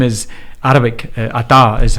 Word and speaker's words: Atta: Ata is how you pronounce it properly.